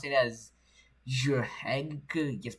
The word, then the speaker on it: Jrhægq: I really hope you pronounce it as Jrhægq. Just pronounce it as Jrhægq OS because that's how it's supposed to be pronounced.